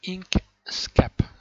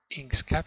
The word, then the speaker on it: Inkscape: Voilà, il s'agit de cette application qui s'appelle Inkscape. Inkscape, ça s'écrit I-N-K-S-C-A-P-E.